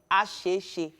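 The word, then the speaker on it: Asese: And of course, past Redeem Camp until you get to, I'm trying to pronounce these areas properly. It's A-S-E-E-S-E, Asheshe.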